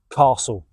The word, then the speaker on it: castle: And if you did get to this point in the episode, write down castle in the comments. Castle, difficult word to pronounce, that silent T in there.